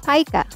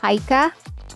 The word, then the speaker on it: pica: Pica. An eating disorder where a person compulsively eats items that have no nutritional value, such as soil, clay, or paper. Pronounce this as pica and not pica.